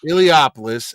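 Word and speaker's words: Eliopoulos: You Chris Elopoulos. How do you say it? Ilopoulos.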